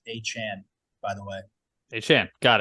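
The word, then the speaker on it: Achane: Also, apparently, it's the way he wants everybody to say his name is A-Chan.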